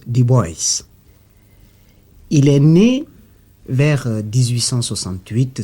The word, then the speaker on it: Du Bois: Son nom s'écrit du bois, ça se prononce du boisys.